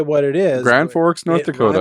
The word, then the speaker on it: Grand Forks: Grand Forks, North Dakota. Rhymes with Rand Norks.